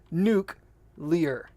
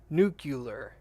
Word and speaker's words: nuclear: that one is nuclear its nuke Lear because it's nuke ulis nuke you'll us not nuclear new clear that's weird that just feels way wrong people pronounce it new nucular I used to say